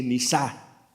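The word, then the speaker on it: נסה: Y usa una palabra muy especial que se pronuncia más o menos así: nisá, que significa examinar, poner a prueba, para revelar lo que realmente existe adentro.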